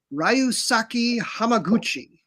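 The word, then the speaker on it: Ryusuke Hamaguchi: Now, this man's name I have made sure to pronounce correctly. Ryusaki Hamaguchi.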